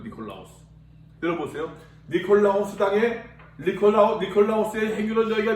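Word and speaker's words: Νικόλαος: 여러분 헬라어에서는 니콜라오스. 이걸 니콜라오스라고 읽거든요. 니콜라오스.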